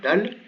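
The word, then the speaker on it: دال: C'est la dernière des lettres qui composent le nom Muhammad, c'est un dal. Il se prononce comme un D, tout simplement.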